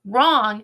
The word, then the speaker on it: wrong: it but guess what wrong has a silent W at the beginning of it ready bong bong Nana